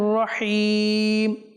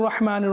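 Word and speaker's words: رحيم: শুরু করি বিসমিল্লাহির রাহমানির রাহিম বিসমিল্লাহির রাহমানির রাহিম এই আয়াতের মধ্যে আমাদের যেটা লক্ষ্য রাখতে হবে সেটা হচ্ছে হির হা যেন পরিপূর্ণ হয় হা যেন পরিপূর্ণ হয়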